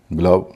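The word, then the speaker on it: glove: डी ओवी ई डव जी एल ओवी ई ग्लव सीओ ME come SO ME some do एनई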